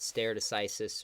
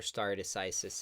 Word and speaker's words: stare decisis: I didn't listen to all the rulings, but I heard a lot of talk about stare decisis or stare decisis. It's sometimes pronounced, which to me seems